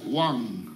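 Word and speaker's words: 왕: This is, in Korean, the character, is a, we pronounce Wang. Wang means king.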